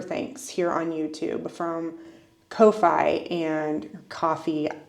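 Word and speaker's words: Ko-fi: here on YouTube from Kofi and coffee I don't know how to say it I guess it's coffee from just people supporting me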